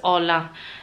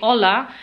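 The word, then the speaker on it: hola: at my husband outfit spells h o l a but they pronounce it as aa the H is silent for them so Once they say aa that is a greeting guys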